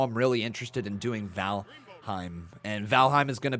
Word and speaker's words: Valheim: No, it's Valheim. Valheim.